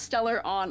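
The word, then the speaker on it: Stellaron: I do apologize, it's pronounced stellar on.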